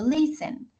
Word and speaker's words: listen: consonante vocal consonante pero como la acentuación está al inicio y no al final Entonces no hay que